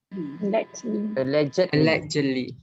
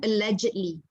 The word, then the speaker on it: allegedly: Allegedly. When you have li at the back, you pronounce the ed. This one macam alleged, right? This one allegedly. Ed ni dipronounce sekali, allegedly.